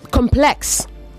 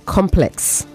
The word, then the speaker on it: complex: But complex, the word complex has two pronunciations. As an adjective, it is complex. As a noun, it is complex. This is a complex. Okay? But the issue can be complex. Do you understand? As an adjective, you say complex. As a noun, you say complex. Therefore, you meant to say complex issues and not complex issues.